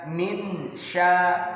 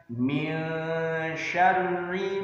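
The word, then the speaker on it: من شر: Jadi membacanya bukan minsa atau minsya, tetapi mil. Huruf nunnya tidak dibaca jelas, melainkan samar. Samar itu artinya tidak jelas. Minsya, min syarri ma khalaq.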